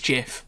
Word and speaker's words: GIF: answer to that question I think the Creator apparently said it was it was Jiff but it's a great